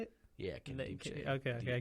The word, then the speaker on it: Nkemdiche: Yeah, Nkemdiche. Okay. The Because I N remember is silent.